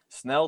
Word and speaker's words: Snell: was given uh yeah snell does rhyme with belle by the way i